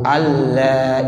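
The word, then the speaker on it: أَلَّا: Nah, makanya bacanya asyhadu alla ilaha illallah. Alla. Jadi nunnya enggak ada lagi.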